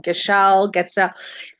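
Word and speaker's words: Gatschet: Getsel.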